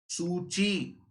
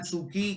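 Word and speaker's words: Suu Kyi: ऑन्ग सैन सूची। की को ची बोलते हैं फ्रेंड्स, प्रोनाउंस की को ची किया जाता है। ऑन्ग सैन सूकी की जगह सूची, राइट।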